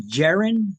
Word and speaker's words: Jaren: By the way, is your name Jaren? Am I pronouncing it properly? That's right. Yep, just like Jaren? Karen, but with a J.